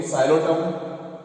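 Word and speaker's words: Psilotum: So in Xylotum, P is silent.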